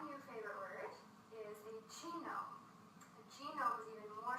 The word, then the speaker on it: genome: So the way I like to remember it is genome rhymes with home, and when you purchase